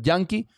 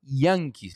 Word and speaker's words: Yankees: que me están viendo que se dice yanis nosotros decimos Yankee Pero tú le dices yanke a cualquier gente que habla inglés y no te entiende hay que pronunciar la i yanis Los Yankees de Nueva